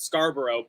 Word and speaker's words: Scarborough: We have a borough in Toronto that's called Scarborough, and we pronounce it Scarborough, even though it's named after, I assume, the English city that would be pronounced Scarborough.